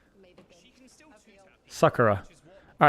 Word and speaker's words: Sakura: Sakura.